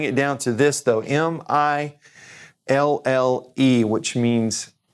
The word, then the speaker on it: mille: We're going to just bring it down to this though, M-I-L-L-E, which means mille, which is pronounced mille, and that means 1,000.